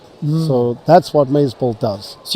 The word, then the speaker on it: Mazebolt: We're here with Matthew Andreani who's the CEO of of Maze How do you pronounce that? Mazebolt. Mazebolt.